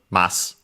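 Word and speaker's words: ます: ma in both cases mass as a reminder uh e at the end of the sentence uh preceded by uh an unvoiced consonants are barely heard if at all.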